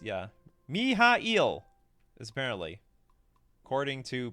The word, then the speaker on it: Mihail: can live with this miile it looks like miale to me how to pronounce uh miale okay I'll listen to it later me mi mi mi mi it's yeah mihail is apparently according to pronounced names whatever there's moxes you find a